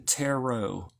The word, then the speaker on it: tarot: them teret cards the the second T is silent why because we use the French pronunciation tarot why is the second